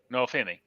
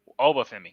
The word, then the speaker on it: Oba Femi: champion, which I always forget always get his name wrong. But Noah Femi. And Noah Femi, you got me, dude. Oba Femi, sorry.